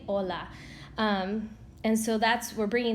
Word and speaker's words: hola: bright and if you did my ears probably started bleeding because I cannot stand that all right so the H is silent you just say hola and so that's we're